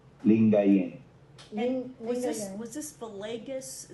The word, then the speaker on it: Lingayen: because it didn't He was the archbishop of Lingen Dagapon. How do you pronounce that, Michael? Uh, or the Archbishop of what? Uh, L I N G A Y N D A G U P A N. Lingayen.